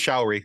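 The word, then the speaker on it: Sha're: Just go with showery. That's Shari. like showery, like shower with a Y on it. Showery. That's as close as I can get with a pronunciation.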